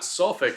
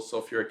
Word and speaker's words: sulfuric: sulfuric acid and again it's not sulc acid it's they add that extra syllable sulfuric acid so that's a